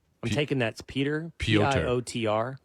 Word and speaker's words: Piotr: Piotr. Pronounce it Piotr.